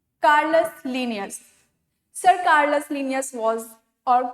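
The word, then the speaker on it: Carolus Linnaeus: जब भी हम लिखेंगे तो हम लोग क्या लिखेंगे? कैरोलस लीनियस, बट जब प्रोनाउंस करेंगे तो हम लोग क्या करेंगे? कार्लिनियस या कार्लस लीनियस प्रोनाउंस करेंगे।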